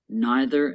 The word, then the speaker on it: neither: people say neither okay both forms are correct in American English you'll hear both forms of pronunciation used you will also hear both forms used in British English so you may hear neither am I or neither